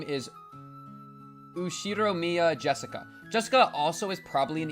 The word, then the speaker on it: Jessica: You see, Jessica is pronounced Jessica.